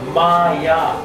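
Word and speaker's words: माया: Because you have to put the long A. Mm-hmm. Otherwise, Maya means mine. It comes from the personal pronoun, the first pronoun, mama, maya. So this pronunciation is very important. So it's a long A.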